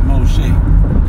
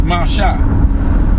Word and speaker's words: Moshe: He was calling Moses Moshe. You know, you taking your knowledge from and the way you pronounce things from your oppressor, all right, from these heathens that have taken over your heritage. Talking about some Moshe. It's Masha. Alright? It's Masha. That's how you pronounce Moses' name.